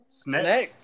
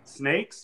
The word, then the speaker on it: Apex Sneks: Snakes or Sneks? Sneks. Just roll with it. It's Apex Sneks. Yeah, some people it's try almost to like snacks. Yeah, exactly. Well, some people try to overpronunciate it, and they're like snakes, and I'm like, no, we're not British.